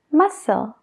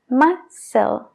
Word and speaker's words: muscle: no pronunciamos la c Un ejemplo muy común es la palabra músculo en inglés cómo se diría muscle ahí no escuchamos ninguna d es solo la s masel masel antes de darte un